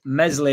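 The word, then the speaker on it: Meslier: the the lineup is Mesley yeah silent s in net Byron right back furo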